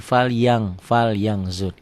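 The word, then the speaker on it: فَلْيَنْظُرْ: Ditulisnya ada bunyi n-nya. Fan. Ya, fal yan. Fal yan kan ada n-nya kan? Dibacanya tambah g jadi fal yang zur.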